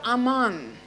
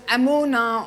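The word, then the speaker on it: אמן: but faith begins we the word आमान which which is also pronounced S अमोना और आन सो ए्री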